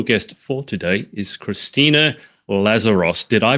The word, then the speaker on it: Lazaros: My special guest for today is Christina Lazeros. Did I pronounce that correctly?